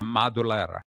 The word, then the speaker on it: Madulara: I'm Madulara, and how do you pronounce that again? Madulara. Madulara.